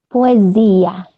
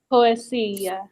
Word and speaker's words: poesia: The S in Portuguese, between 2 vowels, always sounds like Z. So you see how I pronounce this word? Poesia.